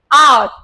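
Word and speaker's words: hour: आर, एच is silent, आ वाल sound, N आर।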